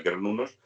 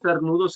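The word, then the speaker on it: Cernunnos: decir cernudos está mal dicho. ¿Él? Decir cernudo está mal No, dicho. no, se leería cernunos y se lee, o sea, y se pronuncia kernunos, con K.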